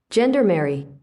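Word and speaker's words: gendarmerie: I have the pronunciation of what I was going for here. Ready? Gendermary.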